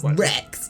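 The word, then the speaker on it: Reks: stuff yeah ranks and it's like spelled like r e k s rex get wrecked and then like one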